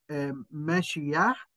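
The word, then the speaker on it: מָשִׁיחַ: المسيح المسيه هي كلمه من الفعل العبري مشياح او مسيح في اللغه العبريه وبيقابلها بالاراميه او تنطق بالاراميه مشيحه مشيحه مشيحه وعن اليونانيه نقلت الى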